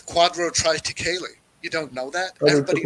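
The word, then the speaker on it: quadrotriticale: what cricket feeling is and everyone's like it's quadro try to kaylee you don't know that everybody will just try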